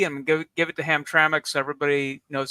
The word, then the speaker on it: Hamtramck: So, somebody in the comments last week said Hamtramck is pronounced how it's spelled. That is not it is not pronounced how it's spelled because you're adding a vowel where there isn't one.